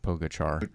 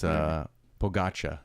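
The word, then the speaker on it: Pogačar: And I know Casey says Pogacar or Pogachar. Pogacar. Yeah, it's Pogacha. That's how you pronounce it.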